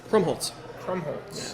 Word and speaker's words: Krumpholz: So I must be chatting with Krumpholz. Krumpholz. Yeah. Thank you. You don't pronounce the P, but you add a T.